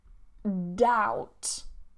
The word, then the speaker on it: doubt: So first one we have is doubt. Doubt. A lot of people try and pronounce the B and they do say doubt. This is not correct.